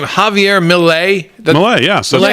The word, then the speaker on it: Milei: I'm going to mispronounce his name, Javier Milei. Milei, yes, that's correct.